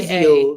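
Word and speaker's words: Quezia: Oh, So it's Q-U-E-Z-I-A. Kizio. Is it like a game or something? No, that's her name. Ah, maybe Kizio.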